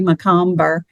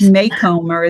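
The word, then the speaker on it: Macomber: I've always said Debbie McComber. And since I've been listening to audiobooks as opposed to reading them, they say her name at the beginning. And I'm like, oh, wow, I've really butchered her name before I listen to the audiobooks. But it's Maycomer is the way they say it on the audio thing.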